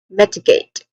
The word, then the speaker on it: mitigate: That is mitigate. Pronunciation wise we have met short evil sound and I short e that is metigate.